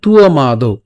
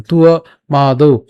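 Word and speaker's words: ত্বমাদৌ: উচ্চারণ করার সময় উচ্চারণ করবো কেমন, তুয়া মা দৌ।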